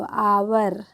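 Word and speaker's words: hour: उसी तरीके से है एच ओ यू आर हर पढ़ेंगे जी नहीं क्या पढ़ेंगे इसको आवर आवर ओ यू are means होता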